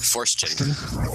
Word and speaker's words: Forstchen: and I'm not even going to try to pronounce that last name, but I'll put it in the show notes. Forstchen. Forstchen.